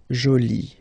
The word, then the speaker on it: jolie: at the end okay and then you get Jolie okay so you can see that you put this uh but then you don't pronounce it okay so it's Jolie so basically